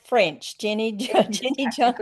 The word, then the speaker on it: Jeni Jonte: How do you pronounce it Jenny? That was very close. Jenny Jean T. Like French. Jenny Jean Jenny Jean T.